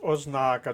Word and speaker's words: ознака: інші б варіант ознака зверніть увагу наголос ознака другий склад ознака талановитої людини тире